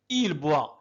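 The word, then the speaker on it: il boit: إل بوا. إذا لا ننطق التاء. التاء لا ننطقها.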